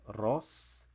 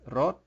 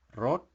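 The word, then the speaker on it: รส: S so it's not Ross it's rot the S sounds almost like a t but it's not really enunciated rot and this means the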